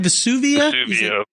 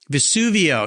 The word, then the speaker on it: Vesuvio: books a collection but Vesuvius how do you say that Vesuvio Vesuvio yeah su-su-sudio when they're